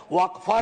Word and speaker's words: वक्फ: और अलग अलग लोग इसका प्रोनाउंसिएशन अलग करते हैं, कोई वक्फ बोलता है, कोई वकफ बोलता है।